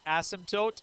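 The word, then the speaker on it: asymptote: Some people pronounce it asmtote some people pronounce it as it doesn't matter. Um dictionary and other sources allow you to put the emphasis either place. So I I say a symote doesn't have a P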